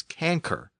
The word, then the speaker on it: cancer: word was pronounced as canker remember the letter c was always pronounced as a K in Latin and we still have